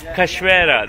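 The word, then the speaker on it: cachoeira: call waterfall uh yeah how do you say waterfall in brazil waterfall cashuera cashwera that's it no caspara cashrera it's a waterfall brazilian way of saying it in portuguese so yeah enjoy this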